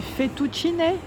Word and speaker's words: fettuccine: Il y a également les fettuccine, on prononce comme ça.